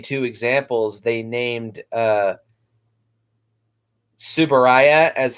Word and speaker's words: Tsuburaya: They spelled, to name two examples, they named Subaraya as how it's supposed to be pronounced, and it was spelled and pronounced Surabaya.